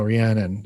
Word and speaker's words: Rhiannon: the song rhiannon rhiannon rhiannon i think is how you pronounce it say rihanna get under my umbrella or is a different one no no rhiannon it's not ryan and rhiannon we're supposed to know